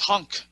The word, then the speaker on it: HONC: It's HONC, like the car HONC.